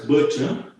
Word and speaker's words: Birch: This one pronounced as Birch.